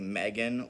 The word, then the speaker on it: M3GAN: are reviewing the movie Megan or M3 Gan as uh voiceover pronounces it because they decided to put a three instead of an e it's it's a whole